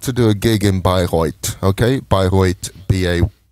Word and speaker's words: Bayreuth: I was booked to do a gig in Bayreuth, okay? Bayreuth, B-A-Y-R-E-U-T-H. Normally pronounced like Beirut in English, but it's Bayreuth mm-hmm. in German.